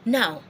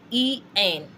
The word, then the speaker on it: en: E-N. talked about en, not n.